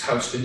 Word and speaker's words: Houston: to the houston terminal i think it's housed in even though it's spelled like it's houston and we went out